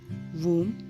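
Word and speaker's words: womb: एक सही होता है बी साइलेंट का होता है जब ब एम के बाद और टी से पहले आता है तब भी साइलेंट हो जाता है तो यह सारे वर्ड्स में आपको बी को ब करके प्रोनाउंस नहीं करना है यहां पर आप इन वर्ड्स को ऐसे पढ़ेंगे वम कोम प्लमर बोम डम थम टोम क्लाइम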